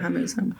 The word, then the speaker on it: Hormuz: Is that how you say it? Exactly. You say it on your news a lot, so I think you will know how to say it. Hormuz.